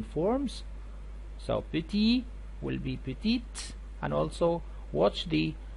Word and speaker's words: petite: of the adjective so you had to pronounce the t petite and also the same